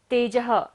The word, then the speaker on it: तेजः: तेजः, स्टार्ट करा हमने लेकिन विसर्ग है तो सांस का विसर्जन करेंगे, ध्वनि का सारा विसर्जन।